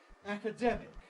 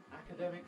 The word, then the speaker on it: academic: without thinking about it academic stress on the demic it's purely academic but we defend academic freedom academic freedom we observe academic